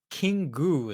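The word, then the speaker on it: キング: Kingu is just how a Japanese person would pronounce the English word king.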